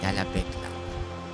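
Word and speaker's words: Talabec: Yeah, Talabek. That's how you pronounce it.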